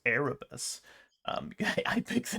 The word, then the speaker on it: Erebus: officer of the Erebus because I've been saying it wrong it's Erebus um I picked the